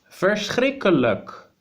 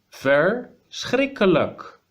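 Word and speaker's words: verschrikkelijk: literally means terrible so terrible in Dutch is first Rick a look fur strike a look so you start with fair with our and then you continue streak khalaq first Rick Alec so even the word itself is terrible to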